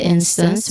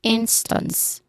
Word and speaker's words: instance: So, here we're just going to focus with instance, where the stress is on the first syllable, instance.